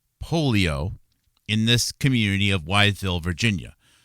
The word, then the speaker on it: Wytheville: This is a December 9th, interesting date, 2020 article about how the polio epidemic of 1950 gave Wytheville, and that's spelled W-Y-T-H-E-V-I-L-L-E, Wytheville, Virginia, a summer without children.